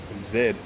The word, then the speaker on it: Zed: is a $2 coin Zed is how the letter Zed is pronounced I don't know what what other people call it Z it's the last letter